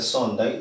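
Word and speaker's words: Thorndike: Se pronuncia Sondai, se escribe Tordik.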